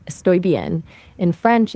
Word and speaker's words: bien: Actually pronounce it bien.